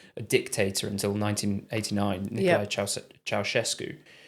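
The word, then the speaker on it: Ceaușescu: How are you pronouncing that? Ceausescu. Oh, is that right? Yeah. Okay. So I'm not sure that was a popular pronunciation in the UK. Was it not? Ceausescu, I think we would have said.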